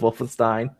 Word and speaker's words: Wolfenstein: like how you like Wolstein I like how you repeated my mispronunciation of Wolfenstein oh my gosh yeah